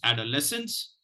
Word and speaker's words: adolescence: the pronunciation goes like this add our lessons adolescence adolescence adolescence let me share screen with you the the word for today so that we are the word is adolescence and there are two stress syllables there is a the price the secondary